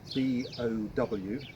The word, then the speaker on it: bowline: But when I read about it, bowline is actually spelt B-O-W-L-I-N-E. So it's like a bow line.